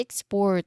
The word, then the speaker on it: export: Like saying we plan to export more local goods next year. Something like that. So we stress on the second syllable.